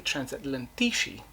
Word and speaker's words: Transatlantici: You have the magisterial and exquisite book by Maruzzo Elisio and Paolo Piccone, Transatlantici, technically Transatlantici, with the Italian pronunciation.